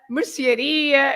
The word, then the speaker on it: mercearia: The words ending in ia, they are stressed at the end. So you have lots of shops, for example. You say padaria, pastelaria, gelataria, sapataria, mercearia, and so on.